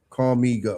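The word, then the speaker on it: Calmigo: Call me go.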